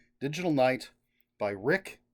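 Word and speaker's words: Ryk: K digital Night by Rick e Spore R YK I assume is pronounced Rick and uh in this book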